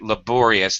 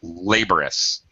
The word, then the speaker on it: laborious: we frequently this is one of those words with the vowel R okay um like comfortable comfortable laborious laborous we sometimes reduce the pronunciation yeah uh okay this frequently happens with middle syllables that are vowel R we often reduce them reduce pronunciation or even drop the syllable entirely okay can you pronounce